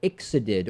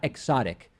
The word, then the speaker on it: ixodid: Which is transmitted by ixodid or ixodid, not exotic, but ixodid or ixodid, I believe it's pronounced, ticks.